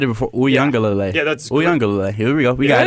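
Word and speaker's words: Uiagalelei: I'm not even going to try to pronounce Mateo. I had it before. Uyangalele. Yeah, that's Uyangalele.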